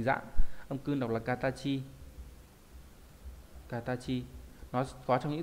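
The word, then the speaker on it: 形: Âm cương đọc là katachi.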